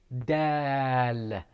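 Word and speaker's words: دال: the next one is dal it's simple it's like saying dad it is pronounced from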